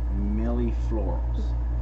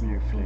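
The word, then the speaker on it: Mille Fleur: Backstory is when before we moved up here, she was raising Millie Florals. Right? Is that how you say it? Fleurs. Millie Fleurs. Mm-hmm. A little French chicken.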